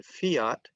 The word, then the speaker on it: Fiat: But if I talk about the letter F in the word fiat, fiat is both an English word for law and also a brand of car. Okay, so the F in fiat is voiceless.